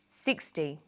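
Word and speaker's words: sixty: Usually the first syllable in a number is stressed. 16, 60.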